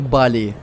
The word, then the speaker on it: Бали: Индонезию на сказочный остров Бали Всё верно не боли а Бали именно так нужно ставить ударение в названии этого острова ведьмаки так вот цель